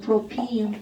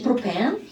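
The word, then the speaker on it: propene: 이렇게 사실 예쁜 영어를 읽으면 프로핀 이렇게 읽는 겁니다. 그런데 이제 콩글리시 프로펜.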